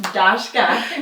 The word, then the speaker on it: Dacheka: And we had been mispronouncing your name for 2 years, or 2.5 years. And so it was not until we met you face to face that we learned that your name was pronounced Dacheka.